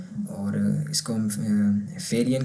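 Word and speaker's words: Ferien: और फेरियन इसको हम ए को हमने प्रोनाउंस किया, यहाँ पर ये वाला ए है एफ़ के बाद, उसकी भी प्रोनाउंसिएशन आप हमने वाज़े रखनी है फेरियन, ठीक है, फेरियन।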